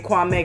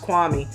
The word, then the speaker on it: Kwame: lot of and i got to stop saying kwame because apparently it's pronounced kwami but he's so similar to levar in the